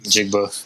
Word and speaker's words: Njigba: Njigba.